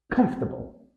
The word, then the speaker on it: comfortable: stress pattern comforable many Learners try to pronounce each syllable separately come Fork a however us native speakers typically compress the word into three syllables with the stress on the first syllable here's the common error comfortable tip think of it as comfortable where the fort almost disappears comfortable number two mischievous stress